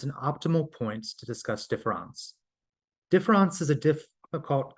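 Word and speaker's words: différance: meanings differance can embody the word sounds like the word differance which comprises one of the meanings of defon but the latter contains the ghost the a that one cannot hear when it is spoken but see when it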